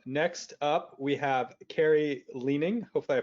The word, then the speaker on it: Lening: the lawyers happy hi my name is carrie lenning thanks for attending today we'll be talking about